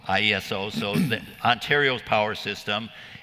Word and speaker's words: IESO: ago you worked with do they pronounce it ieso or how do they pronounce that ieso ieso so the ontario's power system and you work